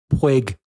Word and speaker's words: Puig: So apparently it's Puig, like twig. I'm still saying Puig.